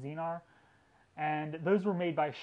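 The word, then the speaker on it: Xenar: These first models also came with a S Zenar lens, that's X-E-N-E-R, I believe it's pronounced Zenar, and those were made by Schneider.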